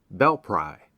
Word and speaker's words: Belpré: Across the river, in Ohio, is Belpré, short for Belle Prairie, and now locally pronounced Belpry, settled by Revolutionary soldiers on the Marietta Grant in 1789 and 1790.